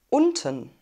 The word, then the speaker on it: unten: nicht entblößen nummer 2 unten unten unten unten wir haben ein kurzes offenes und vielleicht habt ihr